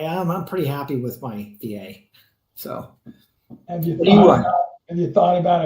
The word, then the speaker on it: Wilier: So it's spelled Wilier, but it's pronounced VA.